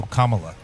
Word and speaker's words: Kamala: uh Kamala okay yeah cuz I remember someone had a hat that was just comma and La um so commala uh we deserve better